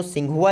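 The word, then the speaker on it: Tsinghua: तो सिंघुआ university, T से इसकी स्पेलिंग शुरू होती है, सिंघुआ यूनिवर्सिटी, ये चाइना में स्थित है।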